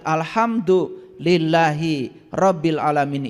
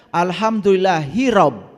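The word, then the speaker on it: الحمد لله رب العالمين: dibawa ke dalam kehidupan Oleh karena itu cara membacanya harus benar alhamduillahibil alamin itu membacanya harus benar karena selama ini kita membacanya Alhamdulillah hirab hirab itu perang Coba lihat di kamus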